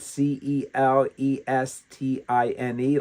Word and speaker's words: Celestine: I think you might pronounce it c e l e s t i n e, like Celeste, but Pope Celestine in 431.